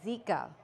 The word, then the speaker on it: Zika: Thomas Stephanie Brown reporting for news too and the correct pronunciation is Zika virus now suspicions have arisen in French Polynesia